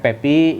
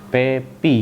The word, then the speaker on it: PEPY: Coba tulis PEPY. Pepi kan gitu. Pemahaman saya kan dibacanya Pepe karena PEPY kan.